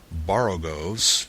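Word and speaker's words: borogoves: rhyme with groves again the first Oh in Baro goes is pronounced like the O in Baro I have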